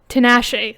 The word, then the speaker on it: Tinashe: Tinashe. That's how you pronounce her name.